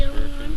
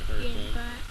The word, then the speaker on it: Hurricane: I think it's pronounced Hurricane rather than Hurricane.